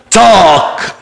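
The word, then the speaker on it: talk: كمان يتحدث يتكلم اسمه تاك تاك بقول كده تاك يس احنا قايلين اي لما يجي بعدها ال يبقى الاي هنطقها ابطال الجمهوريه اقول ازاي تاك الال سايلنت يلا نقول تاك تاك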